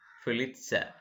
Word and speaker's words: Pulitzer: is a pulitzer prize you can pronounce it fill itself is an award for